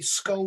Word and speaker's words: Scole: It's spelled Scole. Okay. Skull was a village in Norfolk, and it's um, it was an experiment that ran for 5 years.